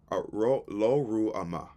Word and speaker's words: Lo-Ruhamah: Lo Lo Ruama, Lo Ruama, meaning not love or no mercy. Lo Ruama spelled Lo-Ruhamah, and Lo Amini, meaning not my people.